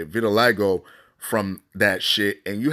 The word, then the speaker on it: vitiligo: That's how you say it, vitiligo, from that shit.